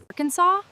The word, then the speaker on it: Arkansas: Arkansas? You're a low-key outdoor hipster who thrives in the Ozarks and will fight anyone who pronounces the s.